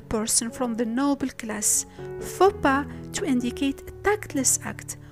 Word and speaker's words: faux pas: We say chassis to mean the frame of a vehicle, bourgeois to mean a person from the noble class, faux pas to indicate a tactless act, rendezvous to mean a meeting, à propos to say with regard to.